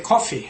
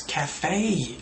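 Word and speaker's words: café: They might say, in pronunciation, they might say coffee. I went to the coffee. It's cafe. A-E, cafe. Cafe, not coffee.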